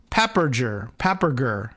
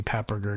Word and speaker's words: Papperger: The plan to kill Armin Papperger, P-A-P-P-E-R-G-E-R, Papperger, and I don't know, that doesn't even sound like a particularly German name. Maybe Papperger does.